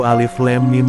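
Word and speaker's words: الم: Ini jelas alam bacanya Mas. Seru Yulia. Baca yang benar itu alif lam mim bukan alam. Sama bacanya dipanjangin harus 6 harkat jadi alif lam mim.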